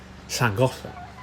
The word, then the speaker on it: Bangor: Um It was up by um a town in North Wales called Bangor. Yes, that is how you pronounce that.